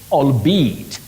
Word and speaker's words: albeit: say albeit.